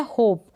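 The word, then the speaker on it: hope: होगा इस एम का, क्योंकि लास्ट में ई है और ई का उच्चारण नहीं होगा। यहाँ पर ये आपको ध्यान रखना है। ये है होप, क्या है, होप।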